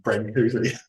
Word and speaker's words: Brancusi: by a sculptor called Brancusi. I haven't pronounced his name right, but that's how the Oxford Dictionary says he pronounced his name, Brancusi.